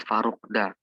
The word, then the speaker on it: Farukta: Tulisannya Farukta, tapi bacanya Farukda. Kenapa? Karena T itu kan kalau berubah jadi D, jadi berubah lagi dia gitu.